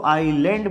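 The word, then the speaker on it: island: लेकिन जब हम इसको आइलैंड बोलते हैं तब हम इसमें एस का यूज नहीं करते हैं।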